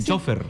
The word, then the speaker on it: chofer: lo si lo pronuncian acá decimos chofer allá dicen chofer es Claro pero no está mal dicho o fútbol y y